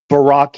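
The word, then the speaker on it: ברק: And how do you pronounce Barack in Hebrew?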